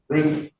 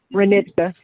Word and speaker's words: Renitka: City of Detroit versus Reka Green. Give me the correct pronunciation. I messed it up. Renitka. Renitka, I'm sorry.